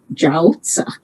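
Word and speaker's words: 饺子: especially in northern china in chinese the pronunciation of dumplings is jausa that means midnight the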